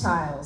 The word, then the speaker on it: Chiles: Childs.